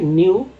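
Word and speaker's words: knew: double के यू न्यू न्यू के silent है न्यू न्यू आई हैड नॉट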